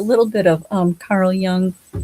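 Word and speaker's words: Jung: just watched a little bit of um Carl Young, right? Did I say it right? Yeah, Carl Young.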